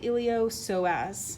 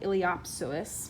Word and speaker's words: iliopsoas: actually a combo muscle it's called the iliopsoas it looks like iliopsoas but it's a silent p so it's the iliopsoas made up of what's